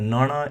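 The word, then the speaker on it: ਣਣਾ: Now, a nana is the strongest possible N sound in the Gurmukhi alphabet, And to say it properly, we have to remember the tongue curling, just like with all the retroflex letters we've looked at, that the tongue must curl underneath the palate, just well, quite far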